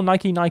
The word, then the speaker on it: Nike: By the way, we just call Nike in the UK, most of us. I'm only saying Nike because I think that's how you pronounce it when it's a Greek god.